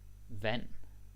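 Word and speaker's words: vand: again food Mel nice v v water V and remember we don't pronounce the d all right the D silent V all right you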